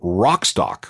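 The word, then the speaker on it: Wrockstock: That scene is big enough to have its own festival, which they call Rockstock, which is spelled with a silent W at the beginning.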